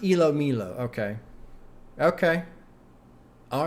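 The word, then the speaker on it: ilomilo: Is pronounced Elo Milo.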